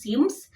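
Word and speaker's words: Cemes: okay but uh the the pronunciation is Sims with c e m e s okay it has a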